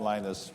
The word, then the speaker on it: Linus: for him and then this voice at the other end of the phone says hello this is Linus I said leadest I dissing you for your name because I know but nobody in California could say Lena's so I'm Linus and that just endeared